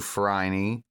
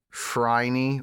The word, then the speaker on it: Phryne: Good to see you too, Phryne. Or is it Phryne? Oh, the name is said Phryne, but it's spelled Phryne.